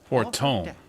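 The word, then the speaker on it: Fortemps: Fortom. That's how you pronounce that.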